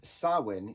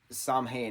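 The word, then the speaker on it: Samhain: m ha a i n uh which is pronounced sawin even though the professor Dr Lumis says Sam hay at one point and I'm like no it's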